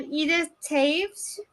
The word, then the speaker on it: Edith Taves: I have Edith Taves. Is that how I pronounce it, Edith? Yes, correct. You are right.